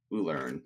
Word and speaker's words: Ulern: Ulern. So like the word learn with U in it.